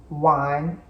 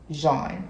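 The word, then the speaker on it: Jaune: said my name but my name is Jean it means yellow in French so that's how it's spelled like yellow in French not Juan Jean j-a-u so French and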